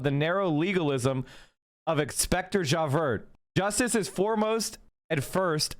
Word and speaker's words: Javert: God damn it, I can never, Javert, I can't pronounce French either. Javert, thank you, Jesus Christ.